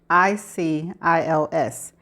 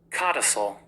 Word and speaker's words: codicil: Okay, the word is spelled Codicils, and this is how it is pronounced. Codicil. Codicil.